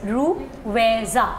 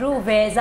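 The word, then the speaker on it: Ruwaiza: Seriously, it's रूवैज़ा। तो इसको 3 parts में लाना है। आपके लिए 3 पार्ट्स। रूवैज़ा।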